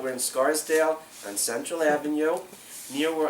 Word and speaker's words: Scarsdale: the Twisted bit saddle Saddlery is that I pronounce it in Scarsdale not sorry not hardsdale we're in Scarsdale on Central Avenue near where I grew up